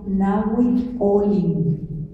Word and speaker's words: Nahui Olin: acabo de enterar que en náhuatl no existen las palabras agudas, todas son graves. Entonces nos decía Silvia Molina en Bellas Artes que se pronuncia Nahui Olin.